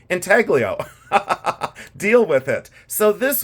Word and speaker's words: intaglio: know the UK say intalo they don't pronounce the G I live in Ohio in a cornfield so I say Ino deal with it so